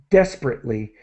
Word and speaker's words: desperately: Okay, and desperately. And so really we do not pronounce the syllable that's created by this E here.